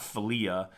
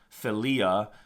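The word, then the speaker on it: philia: I L I A it's not filia the accents on the second I so it sounds f filia um uh it it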